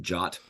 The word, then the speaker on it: JWT: my head around that people pronounce it jot props to them no